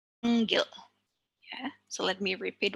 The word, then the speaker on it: panggil: The last example is panggil. The penultimate syllable panggil.